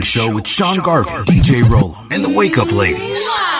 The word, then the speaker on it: Rollem: Please pronounce it Rollin, not Rollin, not Rollum, or whatever y'all say. It's Rollum, ROLLEM.